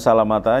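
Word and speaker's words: سلمة: Ya, Salamata posisinya mudhaf ilaih, seharusnya kasroh kan. Ya, ini mah gak kasroh, dibaca patah aja.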